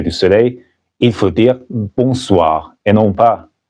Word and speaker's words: bonsoir: Mais après le coucher du soleil, il faut dire bonsoir et non pas bonjour. Bonsoir. N'oubliez pas que le N ici n'est pas prononcé parce qu'il est nasal.